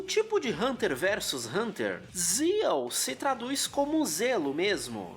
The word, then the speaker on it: ZEXAL: Eu sempre falei zexal, mesmo sabendo que o correto é zal. Esse X é mudo. Tipo de Hunter versus Hunter. Zal se traduz como zelo mesmo, ter cuidado por algo, zelar pelo próximo.